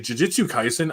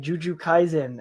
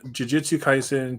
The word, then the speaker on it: Jujutsu Kaisen: So I always used to mispronounce it wrong all the time, and one day my buddy heard me say it, And I was like, Juju Kaisen. And it's like, that's not how it's pronounced. And I was like, what? It sounds like you're saying Juju.